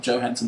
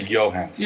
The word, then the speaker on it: Johansson: Because Scarlett Johansson, who is pronounced Scarlett Johansson because that's how she pronounced it. As opposed to Johansson.